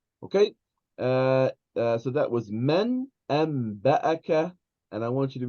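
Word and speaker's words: أنبأك: So we, even though it is the word anba'aka, we pronounce it amba'aka.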